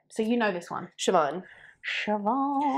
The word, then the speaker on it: Siobhan: you know this one Siobhan Siobhan not seal band no not seal band